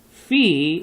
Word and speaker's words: Phi: i l o n Fe like Fe f f you know that remember the giant remember in the fairy tale okay so that's